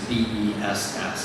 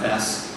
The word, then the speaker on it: BESS: storage systems are typically, there's an acronym that's used that's BESS, is that right? That's right. Typically pronounced BESS?